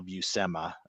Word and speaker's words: Buscema: board and um he did say it's sal busema um yeah so if you want to hear